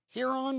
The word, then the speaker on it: Huron: French, but your system, is it pronounced Huron iOS? Huron? Yes, Huron. Huron.